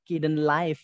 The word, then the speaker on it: Kdenlive: Kalau di YouTube itu pronounce-nya Kaden Live gitu. Tapi karena saya orang Jawa ya, Kaden Live gitu aja lah ya.